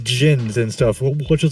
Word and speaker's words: Djinn: Jinn. Jinn? What word? It's DJINN. Yeah, it's not even spelled like how it Oh.